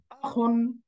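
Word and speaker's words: أخٌ: একইভাবে দ্বিতীয় শব্দটা হল এই দেখেন হামজা এটা এখানে আছে হামজা জবর আখ পেশ নন সুকুন একসাথে মিলে হয়ে গেল আখন। আখন।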